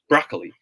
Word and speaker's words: broccoli: got it correctly okay proper way to say this word is you got it it's broccoli okay broccoli emphasized broccoli but i remember in sabika last week we practiced gliding gliding vowels gliding two cons one consonant to the other should pronounce as broccoli good job good job